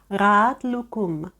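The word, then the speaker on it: Rahat Loukoum: правил читання ратлукум ратлукум в слові рад Я проігнорувала літеру А бо вона ніколи не читається і Саме тут дуже гарно видно її роль Її роботу літера а іляє розділяє голосні розділяє звуки радлукум Звісно це рахатлуку пригадуємо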